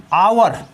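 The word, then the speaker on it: hour: Note में देखिए कभी कभी एच प्लस ओ हो तो वहाँ पर एच साइलेंट होता है। जैसे आवर, आवर मीन्स होता है घंटा।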